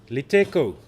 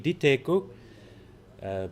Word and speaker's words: Diteko: Liteko, Modiri Liteko is the next man to come through. He was also the substitute wicketkeeper for Munsami. So, excuse me, it's Modiri Diteko. Pronunciation corrected there for me.